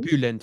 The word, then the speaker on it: Bülent: Habe ich ja auch gemacht, da war Bülent Ceylan. Habe ich das richtig ausgesprochen? Bülent, ja, genau.